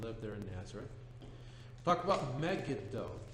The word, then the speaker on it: Megiddo: there in Nazareth about Megiddo correct pronunciation Megiddo but it's also so